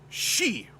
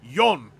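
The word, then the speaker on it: 四: Japan go means five just like she or four means death when you don't say it like yon as many do June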